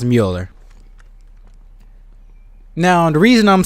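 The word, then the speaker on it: Müller: Greg Mueller or yeah I think it's pronounced Mueller now the reason I'm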